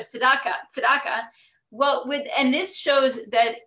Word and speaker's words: Tzedakah: He said Dvar Torah, Chesed, but he said Tzedakah instead of Tzedakah.